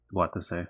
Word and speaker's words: Watase: Watase, okay. That's where the it matters where the stress is on the word you say.